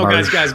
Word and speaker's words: Domergue: No, Demarge. guys. The D is silent.